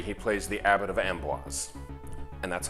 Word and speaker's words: Amboise: He plays the Doctor in episodes 1 and 4, but in episodes 2 and 3 he plays the Abbot of Amboise. And that's how it's pronounced.